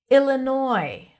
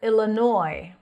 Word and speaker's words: Illinois: Illinois or Illinois. Very subtle.